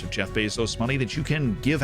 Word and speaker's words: Bezos: Because if you don't, that's saving Jeff Bezos, or Bezos, but if you say it like that, you are a psychopath.